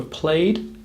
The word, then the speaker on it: played: The word played has a very soft d or d sound at the end. Played. Imagining it was spelt P-L-A-Y-D may help you here.